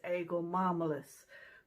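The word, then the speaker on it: Aegle marmelos: I'll put the botanical name up here, and I think the pronunciation of the botanical name is Eagle marmalus.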